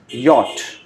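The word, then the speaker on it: Jot: Coming to the next series of letters, J alphabet is pronounced as Yot. It's a quite different pronunciation.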